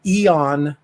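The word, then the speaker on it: Aeon: Eon. Eon. It's spelled with an A. A-E-O-N. Eon Chance.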